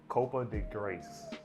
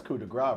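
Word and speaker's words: coup de grâce: called Copa de Grace. Copa de Grace. I think that's how you say it. So COUP and then DE Oh, and that's then coup, GRAC. that's coup de grace, bro.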